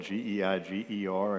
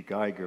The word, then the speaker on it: Geiger: County, the German settlements, it's spelled G-E-I-G-E-R, and every German would say it's supposed to be Geiger, but in the Carolina backcountry, it's the Geiger.